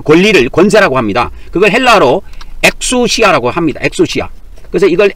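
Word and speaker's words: ἐξουσία: 그걸 헬라로 엑수시아라고 합니다. 엑수시아. 그래서 이걸 엑수시아라고 읽습니다. 엑수시아.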